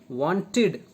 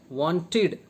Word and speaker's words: wanted: example we learn that the suffix ed can be pronounced in three different ways ta as in stopped and stopped is wrong pronunciation the as in played the played right and id as in wanted wanted wanted wanted wanted is a wrong pronunciation okay uh girls were